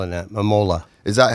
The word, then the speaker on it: Mamola: Mamola.